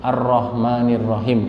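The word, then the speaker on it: الرحمن الرحيم: Itu bacanya disambung. Ar-Rahmanir-Rahim kalau ayatnya gitu.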